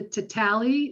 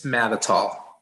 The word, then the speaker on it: Matatal: Mr. Tatali, is that how you pronounce it? It's Matatal.